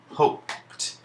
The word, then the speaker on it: hoped: and jumped Ju MPT in this case the D is actually making the sound that we associate with the letter T now this isn't a